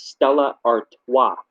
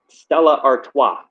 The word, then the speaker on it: Stella Artois: doing a review for, it's pronounced as Stella Artois. It's French. Stella Artois. Because I know you were saying you're like I don't know how you pronounce this. It's French. It's Stella Artois.